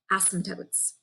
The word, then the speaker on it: asymptote: have what are called asymptotes okay and that is spelled a-s-y-m-p-t-o-t-e so in case it sounded like something else it's called asymptote which means it's a line